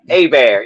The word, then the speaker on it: Hebert: I'd be like, "Oh, look, there's that Herbert quarterback." He'd be like, "No, it's pronounced Bear." You know what I mean? I heard, I'm like, "It's spelled Herb."